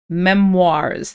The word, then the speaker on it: memoirs: word here we have Memoirs that's how we pronounce this word memoirs it's from French so um that's why it's got the strange spelling and and a rather French sounding pronunciation okay so um what